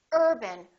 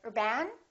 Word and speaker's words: urban: Urban repeat after me Urban we stress this part and we reduce this part if you say or ban once again it sounds like a completely different word it's very important to